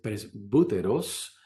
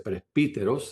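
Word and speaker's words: πρεσβύτερος: El anciano, la palabra es presbúteros, dependiendo en cómo usted aprendió el griego, puede ser presbíteros la pronunciación, pero vamos a usar esta palabra, esta pronunciación presbúteros.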